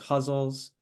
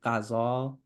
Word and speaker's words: ghazal: um hles so also the pronunciation of that can be it can be like hles if you're thinking more in Arabic but then it can be like in Persian it's gazal uh in in English we often do guzzle